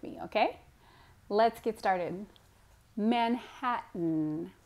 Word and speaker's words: Manhattan: times so first time is listen to the pronunciation second time try to say it with me okay let's get started Manhattan Manhattan and you may be thinking there's a tea